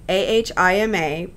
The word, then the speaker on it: AHIMA: The Health Information Management Association, AHIMA, pronounced AHIMA, identifies several types of inconsistencies and quality issues that can occur when data are captured and stored.